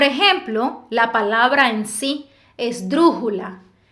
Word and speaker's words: esdrújula: la palabra en sí esdrújula es drujula la es la última sílaba Ju penúltima sílaba dru ante penúltima sílaba no decimos es drujula No si decimos esdrújula no decimos esdrujula tampoco decimos esdrujula por eso es una